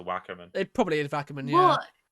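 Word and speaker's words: Wackerman: w-a-c-k-e-r-m-a-n okay so just it could be vackerman as opposed to whackerman it probably is vacuum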